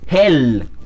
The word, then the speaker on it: hell: dice Claro en alemán se dice Hell así como si como si fuera la palabra para infierno en inglés Hell es la palabra